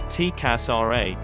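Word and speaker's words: TCAS RA: Call sign, TCASRA, pronounced TCASRA.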